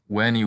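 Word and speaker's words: veni: And the letter V is pronounced like a W, so it's weni weedy wiki.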